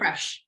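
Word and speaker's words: crème fraîche: Cream fraiche. I don't know how you say it exactly. Creme fraiche. Yeah. Creme fraiche.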